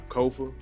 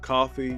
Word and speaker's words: Kofa: But again, as always, I'm Kofa, Kofa, not coffee, not kufu, not Kofi, or any variation thereof. Kofa rhymes with sofa.